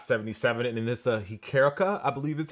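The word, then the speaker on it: hčerka: and the Dot 77, and then this the Hikerka, I believe that's how you say that. So Luca Dončić is honoring his daughter with this colorway. It's Hikerka, I believe, which is Slovenian for daughter. It's pronounced Hecherka, so I think that's Hikerka.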